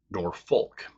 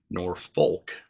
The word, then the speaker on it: Norfolk: going to shorten it to either Nord Fork or Norfolk. But Federal Postal Authority thought it was misspelled and changed it to Norfolk. But the people still call it Norfolk. Norfolk's claim to fame is